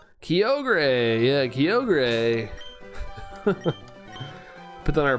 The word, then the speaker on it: Kyogre: kind of unfamiliar with Kyogre and so I really didn't know how to say it. I kept calling it Kio and I was like